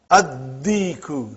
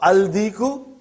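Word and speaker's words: الديك: Ad-diku, not al-diku.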